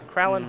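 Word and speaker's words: Krallenhorde: His Duskwatch Recruiter should transform here into a Kralin I can't even pronounce that word. It's Kralin Horde Howler.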